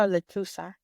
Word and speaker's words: lechuza: But one of them, I dreamt about a lechuza, an owl.